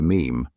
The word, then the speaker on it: meme: Mim comes from a suitable Greek root, but I want a mono syllable that sounds a bit like gene. I hope my classicist friends will forgive me if I abbreviate meme to meme.